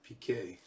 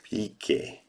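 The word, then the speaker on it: Piqué: PK. PK.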